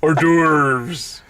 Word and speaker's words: hors d'oeuvres: at the word or doors or d'oeuvres orders hors d'oeuvres it looks like it's spelt divorce I would think